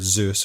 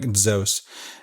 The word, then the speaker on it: Zeus: Spanish just comes from Zeus right you've heard Zeus the correct pronunciation is more like zos and so dios comes from zos but we